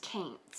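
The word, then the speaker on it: kaynte: Cowaint call cats kaints. We call them kaints. Like taint but it's kaint.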